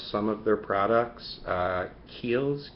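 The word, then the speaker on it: Kiehl's: and I love some of their products uh Keels k i e h l apostrophe s I believe is how it's spelled um they have some great Men's Grooming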